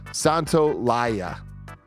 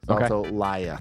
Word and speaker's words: Santolaya: Okay, and then Alvin says Gustavo's surname is pronounced Santolaya, not Yaya. Santolaya.